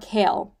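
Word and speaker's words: Chaol: king's Army which is CH or kale her name his name is kale I finally figured out or uh watched enough reviews now to know how to pronounce his name and Dorian spoiler alert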